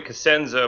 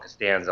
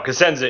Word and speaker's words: Cosenza: Well, it's properly Cosenza, but we have a lot of fun with it. We like to call it Costanza a lot because it kind of acts like George Costanza from Steinfeld. But no, Cosenza is the proper pronunciation.